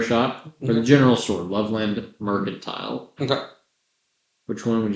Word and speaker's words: Loveland: Let's go to Merkland. Mercantile. Loveland Mercantile. Okay. I'm misheard that. I heard Merkland. I assumed that was like the general store. You don't pronounce the D.